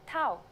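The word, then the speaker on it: ταυ: lesson will move on our first letter this time is stuff it's a consonant and its sound is t you may have heard it called tau which is its usual name in english i'm sure its uppercase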